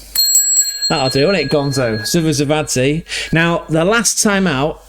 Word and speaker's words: Zivzivadze: It's the Georgian Budu Zivzivadze. That'll do, won't it, Gonzo? Zivzivadze.